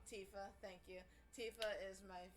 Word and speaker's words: Tifa: But Tifa, I don't know how you pronounce her name. Tifa, thank you.